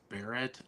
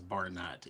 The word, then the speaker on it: Barrett: Throughout my entire life, everybody has pronounced Barrett as Barnett.